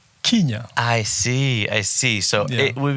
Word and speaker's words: Kenya: So those who spell or pronounce it as Kenya are probably reflecting the more common usage of KE. So instead of Kenya, they say Kenya.